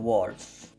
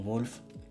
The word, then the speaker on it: Wulf: C'est pour ça qu'on s'appelle à présent Wilder Wolf. En vrai, ça s'écrit Wulf mais je pense que les gens diront Wolf et j'espère qu'ils diront Wolf parce que c'est le but.